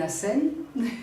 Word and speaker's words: Hassan: madame marina sommes d'abord je suis hassène voilà c'est mon nom se prononce comme ça et vous savez c'est